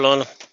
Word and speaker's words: Lionel: Hello, Lionel. The French pronunciation, Lionel.